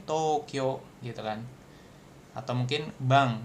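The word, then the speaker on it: 東京: Nah, nah itu dibacanya Tokyo gitu kan atau mungkin Bang misalkan ginko.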